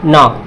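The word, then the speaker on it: knock: इसी तरीके से यहाँ पे देखिए, एन से पहले क्या है, के है, तो के क्या होगा, साइलेंट होगा। तो क्या हो जाएगा, नॉक।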